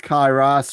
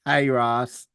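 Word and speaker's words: Cae Ras: at the Kairos, and it's pronounced Kairos, Sean Driver, not Kairos.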